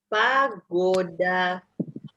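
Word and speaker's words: погода: Kata yang pertama kita punya pagoda. Pagoda. Pagoda. Ya, pagoda artinya adalah cuaca. Penekanannya di huruf O yang kedua, jadi O yang pertama dibaca seperti A, pagoda.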